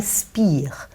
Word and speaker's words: Speer: for example albert chper he's pronouncing his name spear but grammatically it's not spear but in the tapes he says spear so you know there